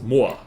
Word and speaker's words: moa: Also, I learned relatively recently that the actual correct way to pronounce mower is moa. That is how you pronounce it. Maori fashion.